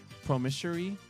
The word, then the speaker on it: promissory: based purely on God's promissory commitments. Is that how you say it? That's an interesting word. Promissory. Promissory. Oh. That O makes the A sound?